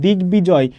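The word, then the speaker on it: দিগ্বিজয়: এই যে দেখো দিক বিজয় গয়ের সাথে ব ফলা যুক্ত আছে, তাহলে আমাদের এই যে গয়ের উচ্চারণ হবে এবং আমাদের যে ব ফলা আছে এই ব ফলার উচ্চারণও কিন্তু হবে।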